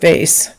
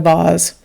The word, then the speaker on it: vase: called the the get in my accent I pronounce it vase some of you might call it a boss I called a vase um so we call